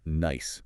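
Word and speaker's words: gneiss: And specifically, we hit a type of rock called nice. That's spelled G N I S.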